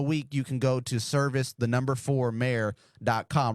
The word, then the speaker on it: Servis: z a h and my last name service it is not a church service it is spelled s